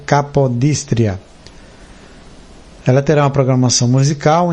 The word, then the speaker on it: Capodistria: que é a rádio aliás rádio capodístria ou acredito que é capadóstria seria mais eh mais cômodo a pronúncia, mas é rádio capodistria.